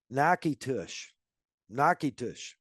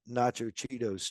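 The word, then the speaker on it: Natchitoches: here's one for you it is called nush nitou it is spelled n a t c h t o c h s that at tell me that spelling doesn't say nacho Cheetos to you that no that's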